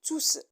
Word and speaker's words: tous: le manteau au pluriel il prend un s à la fin et il est souvent ou toujours à côté d'un verbe en le prononce tous idem et non comprendre